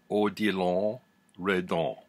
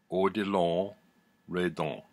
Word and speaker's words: Odilon Redon: With Me Three Times, Odilon Redon. Odilon Redon. Odilon Redon. That's how you pronounce it. It's French.